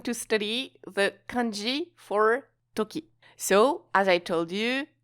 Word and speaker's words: とき: we are going to study the kanji for Toki so as I told you Toki means time moment period etc etc so the Chinese pronunciation is ji and the Japanese pronunciation is Tuki so as for the etymology is actually not